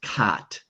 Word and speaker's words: cot: This word is pronounced cot, cot. cat, Can you say that?